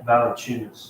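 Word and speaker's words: Valančiūnas: Valanciunas. Valanciunas. Thank you. I could not pronounce his last name at all.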